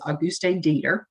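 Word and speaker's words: Auguste Deter: Alois Alzheimer's and his patient, and I'm not going to say her name right probably, but it's the way I hear it pronounced is Auguste Dieter.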